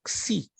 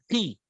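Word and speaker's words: ξῖ: E essa letra se pronuncia como xi, xi. Outros dizem ri, mas ela é xi, como em axial.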